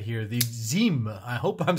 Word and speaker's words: Zhim: And the reason that I pronounce it that way, if you take a look further into their packaging, this pad comes out. There is a certificate of authenticity right here that describes that this is the Zhim. I believe that when they write it out on an American website, it's spelled Z-H-I-M, but clearly they want us to pronounce it in this way.